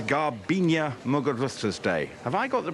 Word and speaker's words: Muguruza: It's Muguruza. Yeah, he got it. He nailed it. Muguruza.